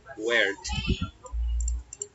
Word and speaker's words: worked: Esta terminación ed, pues tiene una pronunciación de una T, como vemos aquí, worked.